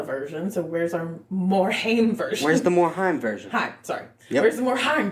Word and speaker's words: Haim: It's Haim. It rhymes with time.